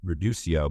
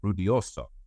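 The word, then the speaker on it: Ruidoso: gotten offered something in Reducio, but I was saying it wrong. He's like, Rudioso.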